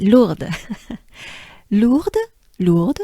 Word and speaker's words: Lourdes: for it all right lord lord lord so here we have mainly the sound oo and we have the french r so the french r